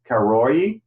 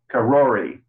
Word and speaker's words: Karori: get some background it was county suburb of karoye and does anyone know where that is it's and that they sorry did you spell it uh it's it's c-a-r-o-r-i karori so yeah the other interesting thing i'd say